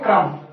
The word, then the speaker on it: crumb: ठीक है, CRUMB, इसे बोलेंगे क्रम। ठीक है फ्रेंड, अगला रूल है कि एम से पहले के साइलेंट होता है।